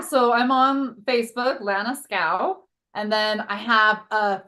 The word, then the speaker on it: Schow: And Lana Schow is SCHOW. So make sure you get that H in there. Lana Schow. I used to pronounce it wrong all the time. I would say it's okay. Everybody does. Shout.